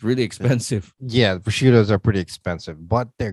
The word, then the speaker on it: prosciutto: Is that how you pronounce it? Yes, that's prosciutto.